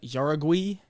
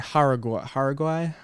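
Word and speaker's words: Jauregui: Next fight, we're looking at Yasmin Yaragui. And, or is it's Yasmin Haraguay? I believe that's how you say it. That's how the announcers were saying it.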